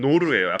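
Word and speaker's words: knarr: 크노르는 원래 발음은 노르예요. K가 묵음이 돼야 돼서 노르인데 요거는 약간 넓어요.이 사람들이 상인이라고 말씀드렸잖아요.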